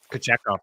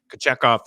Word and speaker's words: Kochetkov: Kochetkov, we talked about Kochetkov and Kochetkov, I suppose, is the proper pronunciation for him.